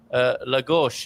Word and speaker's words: Lagos: some were saying uh say lagosh and tavira and don't say um what is it azurish that sounds like it's halfway in the atlantic you know and but